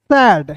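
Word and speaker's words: said: ई एल T felt सैड देखिए दोस्तों मैंने आपको यहां पे बताया था एस ए आई डी को सेड पढ़ते हैं ना और एस ए डी को क्या पढ़ते हैं?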